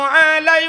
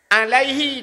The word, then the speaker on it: alaihi: Seharusnya "alaihi", tetapi orang-orang membacanya sebagai "alai", mengabaikan kata ganti yang melekat pada Muhammad; Semoga kedamaian menyertainya , setiap huruf dalam bahasa Arab memiliki makna.